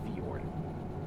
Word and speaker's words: fjord: It's fjord.